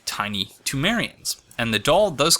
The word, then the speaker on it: Thumerian: And that seems to me to be a brilliant, just like the switch that I recently made from Thumerian to Tumerian.